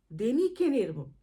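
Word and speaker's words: Däniken: ছিলেন আমি সে ব্যাপারে বলতে চাচ্ছি না অর্থাৎ দেনিকেনের থেকে ফ্রম দেনিকেন সেই থেকে এদের পদবী হয়ে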